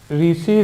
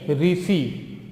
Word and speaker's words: Reese: रीसी river silver mining, रीसी river silver mining को versus Smith, रीसी river silver mining को versus Smith, REESE रीसी, ठीक है, या रीस जैसे भी आप प्रोनाउंस करना चाहें, रीस river silver mining corporation versus Smith.